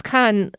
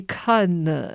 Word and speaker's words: Cannes: But the way that you pronounce Cannes, I looked it up on the internet, and the French people say Cannes, which sounds hard to say properly. And then the British people say Cannes, so I'm going to say Cannes.